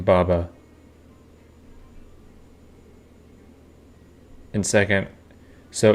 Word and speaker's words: Baba: Baba Yaga's name, you should put the emphasis on the first A in Baba.